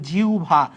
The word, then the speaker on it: জিহ্বা: জিহব্বা কিভা জিহব্বা তাহলে জিহব্বার উচ্চারণ কি হবে জিহব্বার উচ্চারণ হবে জিউভা কিভা জিউভা তাহলে আহ্বানের উচ্চারণ দেখলাম আওভান জিহ্বার উচ্চারণ দেখলাম জিউভা তাহলে এই জিনিসগুলা কিন্তু